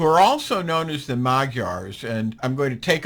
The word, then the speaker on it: Magyars: just a little bit magyar's m-a-g-y-a-r-s the magyars they're also called the majors I tend to be a little bit obtuse in my pronunciation so I say the magyars but they could all be called the magiars any any event they're